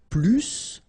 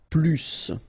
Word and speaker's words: plus: I will be um there is a strange thing in French language with this plus okay because in some cases you will have to pronounce the final s and in other cases you won't.